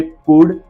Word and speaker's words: could: अब ध्यान से देखिए, कुड, वुड एंड शुड। COULD, यू के पीछे एल है, हमने पुल्ड नहीं बोलते इसको, जिसको पढ़ना नहीं आता पुल्ड, वुल्ड, शुल्ड पड़ेगा। जैसे एल साइलेंट है यहाँ पे, कुड, शुड एंड वुड।